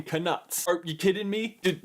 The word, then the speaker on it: Knut: Problem number 1, right out of the gate, they pronounce what is clearly supposed to be a silent K in knuts.